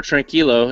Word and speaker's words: Tranquilo: gloves yeah so yeah the the tranquilo or tranquilo if I'm going to pronounce it correctly as the the Spanish call uh the word was